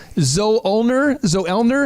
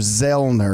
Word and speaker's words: Zoellner: If you go back to the German, the O's not pronounced, which is why I go by Dr. a lot, because everybody wants to call me Dr. Zoellner, and it's really Dr. Zellner.